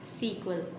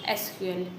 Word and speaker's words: SQL: So, now it was SQL, but in 1974, the people pronounce SQL to SEQUEL. Now also some persons and some of them are saying uh pronounce the SEQUEL, but we are pronouncing the SQL.